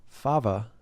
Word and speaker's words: Fava: All right, on the show today is Fava, right? Yep, that's how you say it.